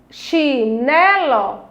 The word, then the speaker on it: chinelo: Se nós temos ali a segunda sílaba, com mais forte, ó, nós temos oxítona, paroxítona, que ela está no meio, vem depois da palavra oxítona, então ela é a palavra que tem a sílaba forte né, e ela é uma palavra paroxítona.